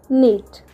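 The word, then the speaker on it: knit: Then आमर next word होची बुणीबा बुणीबा को आम इंग्लीश रे कहिथाउ नीट नीट। एठार आपण ध्यान रखिबे केक साइलेंट रहिथाय।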